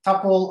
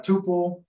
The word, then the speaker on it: tuple: So we also have a tuple or tuple. I don't know how you actually pronounce it. You'll hear it both ways. So I generally say tuple.